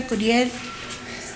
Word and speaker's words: Curiel: Okay, Carell? It's me. I said it right? Yeah. I couldn't tell if it was a G or a C. She was a volunteer also. My name is Curiel.